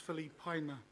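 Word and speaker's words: Filipaina: to let you know my surname is pronounced Philippina, because I've had a few people around this table mispronounce it. So I just wanted close to piano, and I won't say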